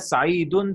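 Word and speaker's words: سعید: That's why we will read it as Sa'idun. Sa'idun.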